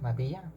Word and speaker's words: Maria: The second name is pronounced Maria, with Spanish phonetics and all that.